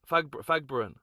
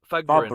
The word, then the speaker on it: Fagborun: Fagbrin Fagbrin Balu is correct. Balu Fagbrin who played for who played for the Bradford